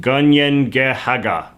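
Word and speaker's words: Kanien'kehá:ka: The Mohawk name for their nation meanwhile is pronounced Ganiengehaga.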